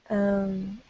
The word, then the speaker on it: REM: So this is, we just pronounced this REM. I don't know why, but it's a concept that people are familiar with, so we call it REM sleep, okay?